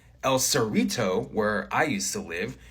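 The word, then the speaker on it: El Cerrito: our top teeth and that leads to things like El serito where I used to live being pronounced more like El serito we also see that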